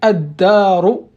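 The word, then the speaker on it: الدار: Le lam, toujours, il n'y a rien au-dessus parce que c'est une lettre solaire. Le del, c'est une lettre solaire. Et surtout, la lettre solaire, il doit être intensifié avec la shadda.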